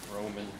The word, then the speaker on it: Róman: No, it's Róman. Usually in English, I always say Róman like the Romans, and people are making fun of me.